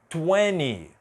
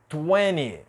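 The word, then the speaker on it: twenty: desse jeito mas aqui Principalmente nos Estados Unidos é muito comum a gente não pronunciar a letra T depois da letra e n Então vou riscar aqui e eu vou te mostrar como vai ficar a pronúncia então aqui vai ser internet internet a seguinte vai ser inil inil e por último 20 20 você já ouviu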